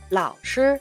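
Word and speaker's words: 老师: 老师 아니고 老师 이렇게요.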